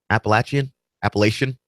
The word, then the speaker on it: Appalachian: Appalachian? I've heard it pronounced both ways.